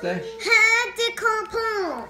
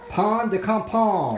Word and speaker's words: pain de campagne: How do you pronounce it, Celeste? Pain de campagne. Pain de campagne. Oh, Daddy, you forgot. Pain de campagne.